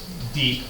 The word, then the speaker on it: Dieppe: So the Allies ended up targeting this small little French coastal town, which I believe is pronounced Dieppe, but I might be wrong about that.